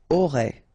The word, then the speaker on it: auras: A and E, aurait. Alright, then tu auras, final S not pronounced, aura.